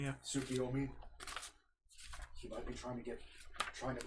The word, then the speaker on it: Tsukiyomi: I mean, they're the Heavenly Seven, and they have the power of literally the knight Tsuyuka Omi. Did I say it right? Tsukiyomi, yeah. Tsukiyomi.